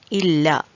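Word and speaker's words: ഇല്ല: The example words are illa, illa. I think most of you know the meaning of it and the pronunciation of that very clearly, illa, which means no, no.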